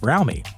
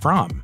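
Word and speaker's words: Fromme: With fellow family member Red, aka Lynette Squeaky Fromey, which incidentally, it really is pronounced Fromey, not Fromm.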